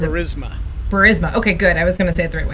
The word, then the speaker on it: Burisma: I actually don't know how to pronounce it. Burisma.